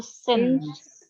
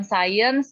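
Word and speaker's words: since: Sin Sin Sin Sin dibacanya itu sense ya bukan science bukan Sin speaks on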